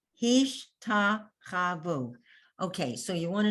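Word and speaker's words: השתחוו: Hish, that's the end of the syllable. So you don't have any sound under that shin. It's a stop. Hish. And then you have ta, cha, and you have a vav with an u vowel, vu.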